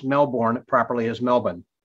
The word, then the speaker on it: Melbourne: It's just very hot and beautiful here in Melbourne at the moment during summer.